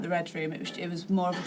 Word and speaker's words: Readroom: which I'm proud of, but also so many people pronounce it as the read room and I'm like maybe